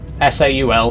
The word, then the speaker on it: Saul: How do you pronounce Saul? It rhymes with Paul. S-A-U-L, Saul.